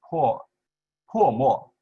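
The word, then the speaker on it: 破墨: In Chinese, it's po mo. Po means to break, okay.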